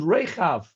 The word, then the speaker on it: Rechav: the walls of thingy, Rachav is spelt with a het, and this is spelt with a chaf. That's a difference. So it's only because we don't know how to pronounce things properly that they sound similar. So they're called Rechav.